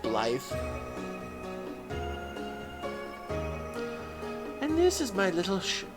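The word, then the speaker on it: Blaidd: Kind of like how Blythe is spelled B-L-A-I-D-D, but it's actually pronounced Blythe.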